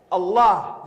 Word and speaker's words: Allah: Allah on man Rahim Allah pronounce a double el exhale with love Allah the creator of the